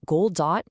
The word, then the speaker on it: Goldot: This explainer is all about a book called Gold Dot. and you pronounce that gold dot.